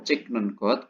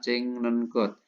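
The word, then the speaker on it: 찍는 것: Ya, ini kata kerjanya atau pasangan untuk sajin yaitu cikta berarti ditambahin nengot ya menjadi cing nengot ya cik nengot bacanya cing nengot jonen sajinel cing nengosel anjuahyo saya ya tidak suka memotret.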